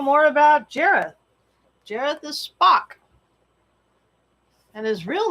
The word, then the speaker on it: Spock: I mean, his name is Spock because it rhymes with shock, and pop because that's the sound that accompanies that's his thing.